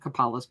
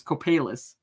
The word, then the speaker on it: Copalis: It's not Copalis Beach. It's Copalis.